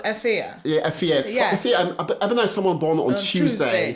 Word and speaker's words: Abena: So you pronounce it Abena. Abena. So it's actually a Ghanaian name, which I know you are. Yes. So basically, Abena is, in Ghana we say Abena. Yes, they say Abena. Abena.